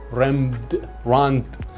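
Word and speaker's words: Rembrandt: اساتید زبان خواهشن اینجا ایراد نگیرن، به دلیل اینکه انگلیسیه و ممکنه هر کسی یه جوری تلفظ کنه، که تلفظ دقیقش میشه رامبراند یا رامبراند خودمون.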